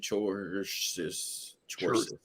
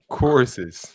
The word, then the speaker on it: choruses: Choruses. Chorus. Dex say. That's CH. Choruses. Yeah, core. The H is silent. No, it's not silent. It's a diphthong. Okay. C and the H form one sound.